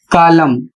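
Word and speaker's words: column: सी ओ एल यू एम एन कालम। इसकी हिंदी होती है स्तंभ। अगला शब्द है एच वाई एम एन। और इसका उच्चारण होता है हिम।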